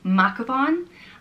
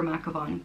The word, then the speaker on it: Mathghamhain: So I guess depending where in Ireland you're from, you might pronounce this name different, but I'll go for Mathghamhain.